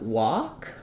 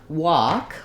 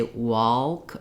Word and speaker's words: walk: the a vowel and my letter L is silent so that's one thing to know that um I don't have to try to put an L in there often times people follow